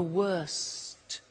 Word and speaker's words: worst: The worst. Don't forget to pronounce the T.